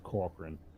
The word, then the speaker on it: Corcoran: Well, but, yeah, I've been pronouncing it Corcoran all day, so I just wanted to make sure. I didn't want to, because some people might pronounce that Cochran, so I didn't want to have to do that.